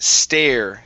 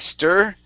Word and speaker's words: stare: This next word here is pronounced stare instead of stir. Okay, an air sound.